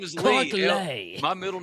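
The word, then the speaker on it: Lea: Why' you say his name like that? It's Clark Lee. I always say that. I always mess it up because it's it's L EA.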